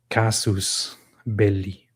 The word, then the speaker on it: casus belli: I'm not wondering about the English pronunciation. I'm wondering about the actual Latin pronunciation of it. Casus belli.